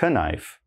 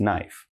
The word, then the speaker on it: knife: So remember, not knife, just knife.